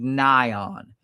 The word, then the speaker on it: NAION: The test that you need to run for the Wegovy or Ozempic is called NION. It's spelled NAION.